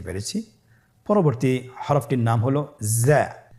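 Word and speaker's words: زاي: স্ক্রিনে দেখুন, হরফটি দেখতেই রয়ের মতোই, শুধুমাত্র রতে নুক্তা ছিল না, জায়ের উপর একটি নুক্তা রয়েছে। কতই সহজ। তাহলে হরফটির নাম কি? জা। আবার বলুন, জা। উচ্চারণ করার সময় অবশ্যই এক আলিফ টেনে পড়তে হবে, এক আলিফ টেনে পড়তে হবে।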